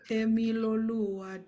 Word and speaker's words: Temiloluwa: How did you say I pronounce it? It is called Temiloluwa. Temiloluwa.